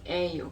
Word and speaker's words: 예요: And then the other way is it's actually 이에요, but we just speak 에요 because it's difficult to pronounce 예요. We just say 에요.